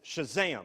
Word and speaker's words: Shazam: And you do have to say it like that. It's Shazam. It's got the exclamation point.